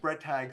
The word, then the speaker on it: Bretag: keep it as was, and it's Bretag. So it's of German origin, okay.